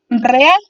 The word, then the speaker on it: real: Y por último, encontramos real. Real se divide en 2 sílabas, re y al, siendo su sílaba tónica al.